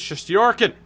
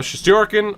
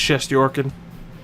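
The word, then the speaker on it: Shesterkin: we'll catch you later goaltender is just your kid which is the proper way to say it you can go she's jerking or chefs tricking it is just Yorkin but you know translations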